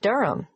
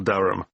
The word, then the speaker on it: Durham: how do you spell Durham d u r h a m of course I should know that but it's just one of those names that sounds quite different from the way you spell it it is confusing I've